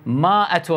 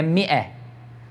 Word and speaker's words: مئة: فالناس هم يشتبهون يقولونها يلفظونها هكذا، يقولون ماء، يقولون ماءة رجل، بعض الناس يتصورون يعني هذه هي اللغة الصحيحة. لا، هذا أيضا لحن، هي مئة، الألف لا تلفظ، صار واضح؟